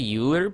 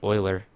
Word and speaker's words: Euler: crapload of castles uh I would say uhler but I've been doing a lot of math lately and I know that that's pronounced Euler and I'm not honestly